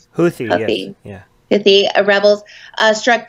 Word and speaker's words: Houthi: were claimed by Yemen's Houthi rebels did I pronounce that right Houthi yeah if the rebels struck two key oil